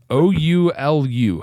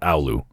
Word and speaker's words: Oulu: Oulu, how do you pronounce that?